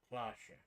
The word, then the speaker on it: Cloche: Cloche is pronounced Cloche.